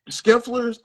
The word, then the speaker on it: Scheffler: Okay, I said his name wrong before. It was Scheffler.